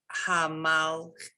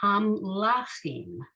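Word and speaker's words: המלאכים: Hamalakim. So under the lamed, there's an ah that you're not pronouncing. So hamlachim.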